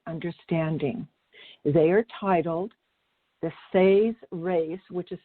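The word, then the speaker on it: Seres: They are titled The Say's Race, which is spelled S-E-R-E-S, The Say's Race Agenda, and The Emerald Doorway, Book 1 of the Parallel Time Trilogy.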